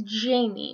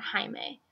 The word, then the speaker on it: Jaime: Except for me, it's Jamie, not Jaime.